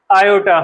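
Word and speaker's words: aorta: आयोटा। ठीक है? आयोटा नाम की आर्टरी होती है। स्पेलिंग ये होती है। इसको ओर्टा प्रोनाउंस नहीं करते। आयोटा ही प्रोनाउंस करते हैं।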